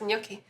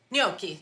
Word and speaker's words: gnocchi: excited no I don't honestly how do you pronounce noi noi noi okay and the recipe we're going to